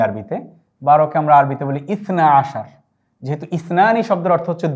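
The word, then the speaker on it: اثنا عشر: আবার ইসনানি অর্থ 2, 10-এর সাথে 2 যোগ করলে 12 হয়, তাই আমরা বলছি ইসনা আশার। এটির উচ্চারণ আমরা এখানে লিখে দিয়েছি সবার সুবিধার্থে, যেন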